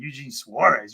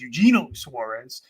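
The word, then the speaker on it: Eugenio Suárez: First and foremost, let's talk about Diamondback's third baseman, Eugene Suarez. Eugino Suarez, as they pronounce it.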